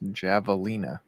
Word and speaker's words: javelina: I wanted the pose did I pronounce the J in javelina yes javelina it's a javelina javelina I don't